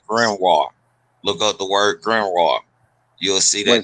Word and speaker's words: grimoire: dealing with yeah, Grem raw RAH. nah, I ain't gonna say nah. No, it's Grimoire. Yeah, yeah.